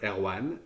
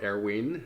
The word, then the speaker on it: Erwan: So the pronunciation is somewhere around Erwan or Erwin as is more comfortable for you.